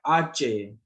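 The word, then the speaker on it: hache: और एच को जैसे मैंने बताया साइलेंट होता है, बट इसकी अपनी एक साउंड होती है जब हम इसको प्रोनाउंस करते हैं। इसको हम बोलते हैं आचे।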